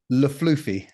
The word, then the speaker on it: LeFlufy: And your name is Patty LeFlufy. Do I say it right? LeFlufy is how it's pronounced.